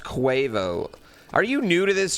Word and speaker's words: Quavo: Lol, it's pronounced Quavo.